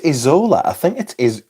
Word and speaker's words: Isola: I don't think it's Isola. I think it is Eola. I don't think the S is pronounced. I might be wrong.